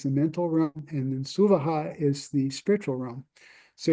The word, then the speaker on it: Svaha: And the Suvaha is, you see Svaha there, but it's actually Suvaha, because that's how you say it to make it sound kind of a little bit nicer.